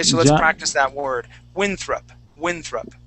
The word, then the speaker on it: Winthrop: last name okay so we're gonna focus on that th sound of john winthrop okay so let's practice that word winthrop winthrop winfrop winthrop there you go